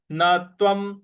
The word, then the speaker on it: न त्वं: पद है नत्वम नत्वम न के बाद जो आधा त है उस पर हमको आघात देना है। न तत्वम और व के ऊपर जो अनुस्वार है उसका उच्चारण हमको म ले आना है।